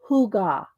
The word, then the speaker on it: hygge: And it's pronounced hygge.